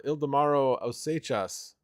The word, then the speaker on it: Ildemaro Osechas: So yes, from Venezuela, Ildemaro Osechas, and that is a correct pronunciation. He has confirmed that multiple times. So for all the other YouTubers listening, that's how you pronounce his name.